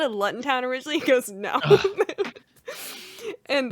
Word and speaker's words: Luton: Like, even like this year, I think I only have to do, I think it's pronounced Luton Town. I forget what Tom told me, because I called it Luton Town originally.